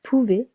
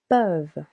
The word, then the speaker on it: peuvent: Vous pouvez. Regular again. Ending with EZ. Ils, elles peuvent. Be careful. Not pouve, but peuvent.